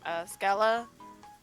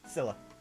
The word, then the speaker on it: Scylla: You know, this whole kind of encounter kind of reminds me of, how do I pronounce her name? Scala? Scylla.